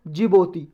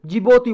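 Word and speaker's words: Djibouti: Somalia Ethiopia Eritrea और जिबोती इसको मिलाकर बोलते हैं और ऑफ अफ्रीका यह डिश में साइलेंट है डीआईजी डी जे आई जो यूटीआई जिबोती बोलते हैं इसको तो जिबोती यह कंट्री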